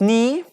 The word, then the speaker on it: knee: different word Emrys ace knee you long DeLonge children need continously in Moot want me yes the correct answer name like as I told you K and n combination pronounced like n me long e need